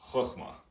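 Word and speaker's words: חכמה: And first, we're going to be starting with this one, pronounced Chochmah.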